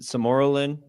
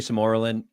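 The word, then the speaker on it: sermorelin: Yeah, most people pronounce it samoralin. Sorellin usually samorin.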